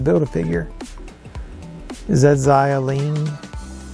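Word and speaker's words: Xialing: a figure is that zio lean that's how you pronounce that kind of reminds me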